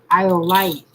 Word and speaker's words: iolite: Iolite. Every time I say it, I got to say it like I'm saying dynamite.